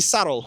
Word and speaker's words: subtle: Généralement, quand vous avez un B et un T, le B sera muet.